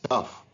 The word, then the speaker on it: cough: is very good it's cough here we pronounce it as f whereas in these two